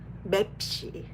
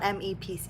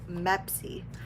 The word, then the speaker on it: MEPC: Mepsi is how you pronounce it apparently. Mepsi. Oh, it's not MEPC. It's Mepsi.